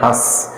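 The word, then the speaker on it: हँस: इस पर अनुस्वार नहीं है, अनुनासिक है यानी चंद्र बिंदु है, इसको हम पढ़ेंगे हंस। तो इसमें गौर कीजिए, हंस का उच्चारण करते हैं तो ध्वनि है वह आधी मुंह से निकल जाती है और आधी नाक से निकल जाती है, यानी पूरी तरह नाक से नहीं निकलती है, दोनों से निकलती है।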